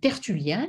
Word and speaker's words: Tertullien: Alors, cette citation, donc Le diable et le singe de Dieu, on l'attribue à un auteur qui s'appelle Tertullien, donc ça s'écrit T-E-R-T-U-2-L-I-E-N, donc Tertullianus, donc auteur qui écrit